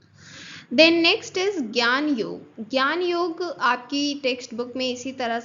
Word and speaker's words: ज्ञान योग: से मेंशंड होता है बट इसको हम प्रोनाउंस करते हैं ज्ञान योग।